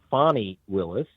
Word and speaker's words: Fani Willis: And so what Fani, I should say, I've been mispronouncing her name, and I do apologize. It's Fani Willis.